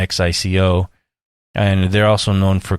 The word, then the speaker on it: Xico: They're known for their coffee, so is Chico, or Hico, however you'd like to pronounce it, Xico.